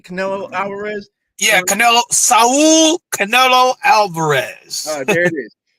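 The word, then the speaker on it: Canelo Álvarez: Am I pronouncing this right? Canelo Alvarez?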